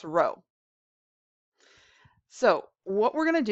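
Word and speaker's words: rho: in physics is row that's this weird little p looking thing but it's pronounced row so what we're going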